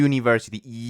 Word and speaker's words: university: es de consonante Porque esa u suena como una y University tiene como un sonido